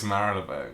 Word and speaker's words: Marylebone: It's Marylebone. It's Marylebone. Marylebone or Marylebone. Okay, literally. No one knows how to say this one.